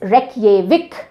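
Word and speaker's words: Reykjavík: एंड the capital is रेक विक देखो रेक ये विक इसको इस तरह से प्रोनाउंस किया जाता है आता है सो आइसलैंड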